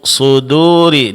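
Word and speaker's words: صدور: Kemudian terakhir pada kata fi suduri suduri di sini huruf dal itu dipertahankan tipisnya. Jangan terpengaruh oleh tebalnya huruf shad.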